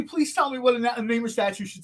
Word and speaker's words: Namor: Namor, is that it? I think yeah, the way to pronounce it. Yeah, it has like a vaguely Mesoamerican inflection to it.